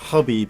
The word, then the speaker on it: Khabib: Conor McGregor in the lightweight title fight with khabib or hope Habib as it's pronounced yeah loads of like kind of media